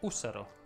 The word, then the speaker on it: ussaro: Si dice ussaro, l'accento cade sulla U.